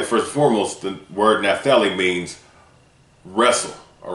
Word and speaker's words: Naphtali: Dealing with the tribe of Naphtali, first and foremost, the word Naphtali means wrestle, all right? In the Paleo-Hebrew, it means Napthali, all right? Its pronunciation in the Paleo-Hebrew is Napthali, all right?